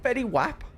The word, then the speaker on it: Fetty Wap: Is that Fetty Wap?